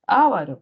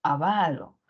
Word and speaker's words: avaro: avaro por alguna razón solíamos pronunciar a veces ávaro pero en realidad es avaro Y entonces si tenemos